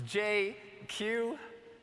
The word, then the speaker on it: Jay Kiew: Uh, I'm probably the only person you'll ever meet who can pronounce his full name in just two letters. It's JQ. Kind of like if Jay-Z and GQ had a baby and it was Asian, that would be me.